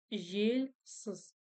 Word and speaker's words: желсіз: Жазда, жазда, жазда жельсыз. Жельсыз. Палочка с точкой, значит, ударение будет на слоге жель. Жель. И еще нюанс, когда пишется буква «Л» после мягкой согласной, она читается как будто бы с мягким знаком.